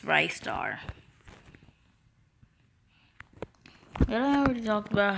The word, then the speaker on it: Ristar: Also, yes, it's pronounced RISTAR. If you say it any other way, that's just straight up wrong. It's RISTAR.